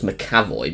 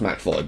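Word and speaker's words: McAvoy: star's James mvoy um who I always thought you pronounce his name as macavoy because it's got MC and then avoy in it but apparently it's pronounced maoy but whatever um I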